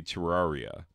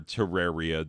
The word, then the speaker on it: Terraria: my kids could play Terraria or Terraria depending on your particular pronunciation anyway so it's been